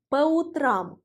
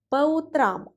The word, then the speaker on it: по утрам: ce sera en russe по утрам. По утрам. Faites s'il vous plaît attention au changement de l'accent tonique.